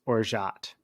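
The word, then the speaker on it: orgeat: how to pronounce it I was called it orat or Orit it's orat is the right pronunciation but that is a almond syrup it's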